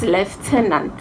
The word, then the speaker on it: lieutenant: n a and c newton ant but it's lieutenant because of its french background so we have